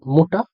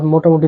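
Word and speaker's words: Mutter: প্রথমটা হলো মোটা, ওটা রাডিও।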